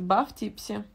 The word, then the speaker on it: buff_tipsy: Как ник правильно читается? Бафтипси.